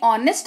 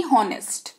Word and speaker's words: honest: जैसे HONEST, इसको पढ़ते हैं ऑनेस्ट ना कि हॉनेस्ट।